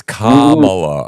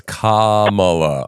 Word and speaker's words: Kamala: minute you're a racist it's it's Kamala okay it's Kamala all right English is English is a second language so I can say it's Cala yeah it's if you